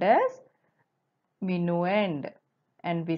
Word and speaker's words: minuend: here 576 is the bigger number which is called as mino end and we spell it as m i n u e n